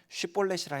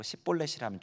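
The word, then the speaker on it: שיבולת: 뭐 요단 나루토 지키면서 에브라임 사람이냐 아니라고 하면 쉬폴레시라 해봐라 그때 시폴레쉬를 못하고 10볼레시라면 죽여버렸어요 그러니까 방언이 있었던 거야 서로 다른 방언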